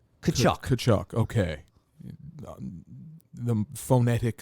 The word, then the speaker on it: Tkachuk: The T is silent. Tkachuk.